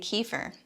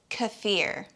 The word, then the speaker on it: kefir: you about pronunciation because you're still saying kiefer it's kefir tell that to my